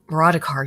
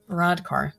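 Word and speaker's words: Varadkar: varar over a particularly Vadar yeah I pronounce that wrong it's another Indian verodar over a particularly insipid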